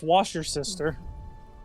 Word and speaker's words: Worcestershire: I'm going to tap the nearest Tarkree and inform him it is pronounced Worcestershire sauce. Shut up, Lou. No, it's wash your sister.